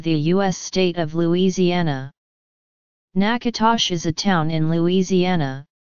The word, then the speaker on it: Natchitoches: state of louisiana Natchitoches is a town in Louisiana the name is pronounced Natchitoches meat pies are not common in most US